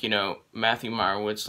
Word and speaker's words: Meyerowitz: movie review of the mayor wood store uh i pronounced that wrong the meyerwood stories which was a 2017